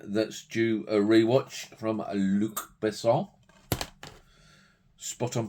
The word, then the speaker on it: Luc Besson: Nikita, seen it years ago, don't remember much about it, so another one that's due a rewatch from Luc Besson. Spot on pronunciation there.